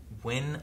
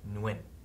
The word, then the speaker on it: Nguyen: Looks like you can pronounce it as win or win, or it could also be pronounced in a North Vietnamese style instead of a South Vietnamese style, which North pronounces more as like no win or nguyen. Nguyen. So it could. Okay. So the N may be pronounced or might not be pronounced, but there is a